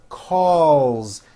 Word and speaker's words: calls: does very well calls bring your tongue up for that l calls she calls me every